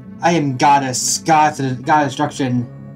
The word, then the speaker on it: Gades: I am Gades. God of Destruction. I say Gades because it's actually like God. It's not Gades. It's Gades. That's how it's pronounced in the Lufia Curse Sinistrals, which is the remake.